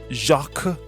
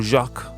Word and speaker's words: Jacques: Eventually, Mark or Marquis was killed by somebody called Jacques, or Jacques in another pronunciation.